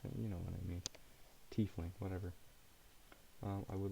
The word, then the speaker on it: tiefling: Tiefling. It's pronounced tiefling. I understand now. It looks... Hear me out. T-E-I in my head feels like it should be pronounced Tay.